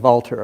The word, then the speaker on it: Walter: Bernhard and Walter, if I'm pronouncing them in the German way.